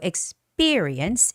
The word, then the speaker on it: experience: That has a second syllable stress. So, experience. Experience. The stress goes on E.